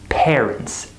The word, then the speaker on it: parents: So, for example, in the word parents, we have this sound air, right? Most students, when they're at a beginner level or maybe an intermediate level, they pronounce this word as parents, par, right? Like the word hard. They C-A-R and they say R, parents. That's not correct. Native speakers do not say parents. We say parents, air, like this word, air.